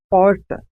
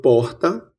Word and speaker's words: porta: Na minha pronúncia, a letra R, no fim da primeira sílaba, corresponde a 2 sons consonantais, chamados de róticos. A pronúncia porta é conhecida como R retroflexo, ou R caipira. Nesse caso, há um movimento de retroflexão da língua em direção ao fundo da boca. É falado aqui em São José do Rio Preto, interior de São Paulo.